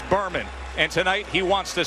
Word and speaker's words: Bermane: Stiver has heard his first name pronounced every which way. Burmain Bmani. It's Burman.